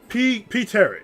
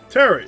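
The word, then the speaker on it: Pterry: Terry. Terry. Oh, Terry with a P, but this P is silent.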